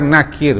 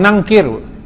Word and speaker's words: Nakir: yang disebut dengan mungkar mungkar Nakir bukan nangkir nahyi munkar mim Nun